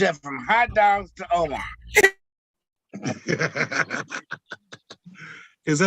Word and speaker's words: Omar: So now he done moved up from hot dogs to Omar.